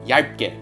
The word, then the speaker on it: 얇게: and the vowel is a the word is pronounced yeah get how easy is that you just put them